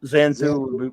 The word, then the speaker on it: Xanthu: you want me to patrol xanthu is that how you say it yes Zan Zoo would work for me